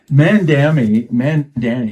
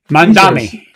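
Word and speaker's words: Mamdani: And Mandani is that pronounce how you pronounce his name? Mandami.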